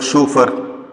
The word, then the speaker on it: chauffeur: Chauffeur means employed car driver, a driver with uniform, employed car driver, chauffeur. Pronounce it like that.